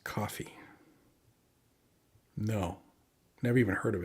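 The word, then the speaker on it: Ko-fi: latest do you have a Kofi page pronounced coffee no never even heard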